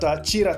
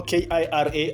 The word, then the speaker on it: Kira: journey right here at Chira town uh from Kenya I can call it Kira you know k-i-r-a I can pronounce it Kira but it is Chira town all right so that